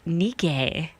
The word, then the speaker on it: Nike: just watched with which shows that we are all saying it wrong it's nikkei oh no you can't change the world if you're pronouncing it like the ancient Greek war Nikes named after a Greek goddess apparently so there you